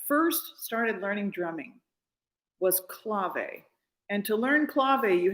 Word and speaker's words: clave: And so one thing I learned when I first started learning drumming was clave. And to learn clave, you had 2 wooden cylinder sticks called clave sticks. Clave, C-L-A-V-E.